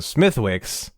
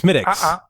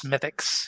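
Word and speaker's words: Smithwick's: was when I showed up and I was pronouncing Smithwick somebody corrected me right away by saying it's smiix it's smiix yes right yeah we should say John went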